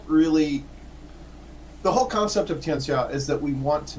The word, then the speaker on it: Tianxia: It's technically Tianxia, but most people will say it Tianxia because they're kind of used to seeing the XIA with an SH sound, and I've been taught that that's incorrect.